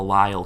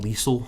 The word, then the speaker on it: Lisle: professors first time like at the Lyle campus a Lisle Illinois I used to call Liesel that's how it looks like it's spelled when I was a